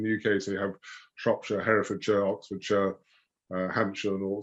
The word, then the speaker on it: Shropshire: A lot of Americans say Shropshire, which is not good. No, it's Shropshire.